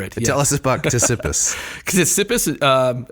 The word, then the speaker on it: Ctesippus: Ctesippus, aside from being very difficult to pronounce, because it's got that kapatao at the beginning.